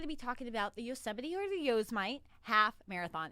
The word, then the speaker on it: Yosemite: the yosemite half marathon it's really not pronounced yo's my i just like to say that because we were talking about it here that it looks like yo's might so just ignore that